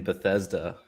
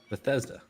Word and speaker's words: Bethesda: thought it was potassium bethesda okay i still call it potassium sounds better yeah because there's a th in the name bethesda the h is silent besides they can kiss